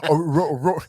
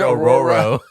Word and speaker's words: Aurora: You've had to pronounce Aurora. Aurora. I can pronounce Aurora. You can. Oh, yeah. Wait, I forgot what word I said that I up. You said Auroro.